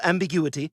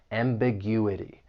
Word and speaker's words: ambiguity: The word has five syllables. And if you want to learn something about syllable stress, when the word ends in I ty, the stress is going to be on the third to last syllable. That gu.